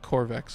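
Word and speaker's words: Qorvex: Corvex, at least I think that's how it's spelled. Yeah, it's yeah, you got it pretty much. It's Q-O-R-V-E-X, like Corvex, like Q as in K sound.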